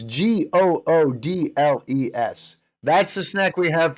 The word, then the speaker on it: Goodles: at that pronunciation, it's Goodles. Right, Goodles. It's Goodles. But, go ahead. But, it's a it's a noodle, so we understand that they're doing a play on the word noodle, and so you want